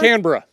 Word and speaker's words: Canberra: Because many Americans say Canberra, and you're saying Canberra perfectly.